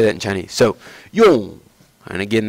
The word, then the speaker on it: 用: So 用, and again, that's fourth tone. So you hear it going down, 用.